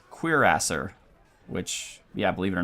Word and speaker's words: cuirassier: Oh, by the way, I learned how to pronounce the horseman. It's cuirassier, which, yeah, believe it or not.